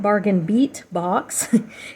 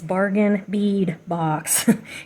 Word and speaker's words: Bargain Bead Box: just drives me insane it's not bargain beat box it's bargain bead box it's beads so yeah